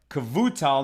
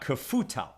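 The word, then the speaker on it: Kevutal: this man rabbi zakaria barr cavutal not kefutel right and the gemara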